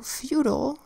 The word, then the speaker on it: feudal: So feudal is spelled with a F that says F, a EU that says U, D that says D, an A that makes an unstressed vowel sound and an L that says ol. F, U, D, ol. Say it fast. Feudal. Next word, eulogy.